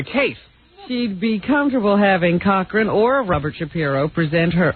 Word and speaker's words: Cochran: Trader she describe Johnny coching Cochran coching Cochran that is the pronunciation no it's Cochran coching Johnny Cochran as